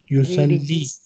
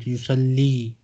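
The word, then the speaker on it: يصلي: Yusalli. This time ya has two dots, so we need to pronounce it.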